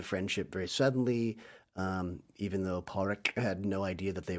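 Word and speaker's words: Pádraic: Colin Farrell's, is it Porrick? It's like Patrick. We would say Padrig. I think everyone on screen calls him Porrick, don't Porrick, they? yeah. But it's spelled Padrick, I think, in the credits.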